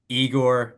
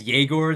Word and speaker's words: Yegor: But yeah, so let's transition now to your guy at 8, Igor, or I guess Yegor. They're saying is how you pronounce it, Yegor However you want to Brevis.